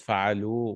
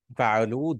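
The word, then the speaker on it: فعلوا: Fa'alu with a waw. And then alif also, that alif separates the verb. It's just a spelling rule. We don't pronounce that alif. It's actually this waw. Fa'alu, they all did.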